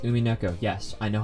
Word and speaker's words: Umineko: That's right, it's pronounced Umineko.